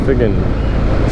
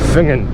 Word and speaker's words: Finzean: Finzean, even though it's written Finzean, it's pronounced Finzean. Finzean.